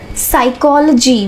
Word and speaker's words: psychology: Psychology, we don't use P. P is silent here.